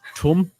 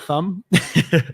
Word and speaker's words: Thumm: I've been notified that it is, in fact, pronounced Thumm, not Thumb.